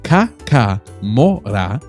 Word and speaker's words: Kakamora: and keeps us bringing more content your way pronounced Ka MOA it describes describes small mysterious beings that move